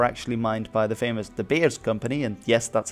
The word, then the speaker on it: De Beers: these diamonds were actually mined by the famous the bears company and yes that's how it's pronounced because they it was set up by dutch brothers rather than de beer in any case they were extracting the diamonds